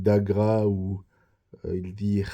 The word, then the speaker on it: Agra: Il parle de Hagra au lieu de la ville d'Agra où il dit Haimsa au lieu de Ahimsa.